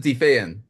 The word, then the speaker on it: Die Feen: I pronounced it defan.